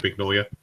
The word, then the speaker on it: Mignola: synthesized water yeah Mike Mignola you pronounce his last name big no um ignore whatever yeah but like